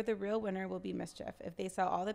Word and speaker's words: MSCHF: This is the latest artistic concept released by Brooklyn-based collective MSCHF, known for its No, you can say it like that. That's mischief, though.